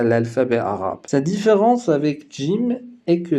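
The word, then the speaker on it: ج: La lettre suivante s'appelle Jim. Elle fait le son J.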